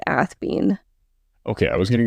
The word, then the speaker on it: Athebyne: degree, where he said Athebyne. There's a couple different ways this is pronounced. I'm going with Athebyne.